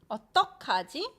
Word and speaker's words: 어떡하지: 어떡하지? Keeping this 그 sound and 흐 sound. 어떡하지? Second way is 어쩌지, like 어쩔 수가 없다, which is easier to pronounce.